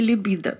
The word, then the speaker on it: либидо: препаратов этой группы снижения либидо здесь ударение на второй слог правильно любит если он у